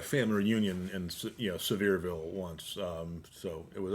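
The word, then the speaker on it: Sevierville: Severeville. I think that's how it's pronounced. It's like it's it's spelled s e v i e rville.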